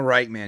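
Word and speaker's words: Richtman: last name you use you said rikan earlier I I thought it was rayan um he goes by Daniel rpk and uh it's Daniel wrightman he has a patreon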